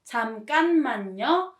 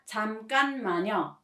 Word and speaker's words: 잠깐만요: By the way, please note that it is pronounced 잠깐만요 with nium pronunciation, not 잠깐만요.